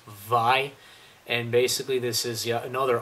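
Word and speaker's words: Vay: up would be uh V or as I found out not too long ago it's pronounced VI and basically this is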